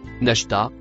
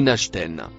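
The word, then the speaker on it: نشطا: Il se prononce Nashta ou Nashten.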